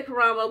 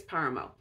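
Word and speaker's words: Páramo: And interestingly enough, both 100 Years of Solitude and Pedro Paramo, the accent's on the first syllable, so I think Paramo. I wanted to say Paramo, but I think it's Paramo.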